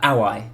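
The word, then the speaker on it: Aoi: have introduced myself uh aai is my name AI a o i okay with the w but just W it it's it it's pronounced as if it's spelled with a W but it's a oi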